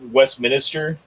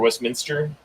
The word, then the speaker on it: Westminster: if you're in like Westminister or Westminster depending on how you say it Commerce City that's